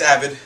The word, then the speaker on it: Abid: It's Abid. Abid. Pronounced many different ways, but Abid is the way I like to go by.